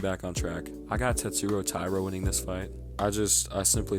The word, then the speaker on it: Tatsuro Taira: I fucking hate when somebody says Tatsuro Taira. Bro, his fucking name is Tatsuro Taira. I hate the over pronunciation of names in MMA. This shit is so fucking corny. Like, don't get me wrong, if you're from the region of that fighter and you speak the same language, have the same accent, then yes, pronounce it the native way.